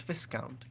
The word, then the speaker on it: viscount: five dollars from discount Viscount the account actually the s is not pronounced I think are there